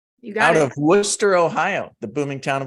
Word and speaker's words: Worcester: like the College of Worcester um but if I tell Siri Worcester she thinks it's like Worchester Massachusetts so she still has